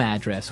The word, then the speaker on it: address: So, different from your home address where you live. Yeah. And there the stress is on the first syllable address.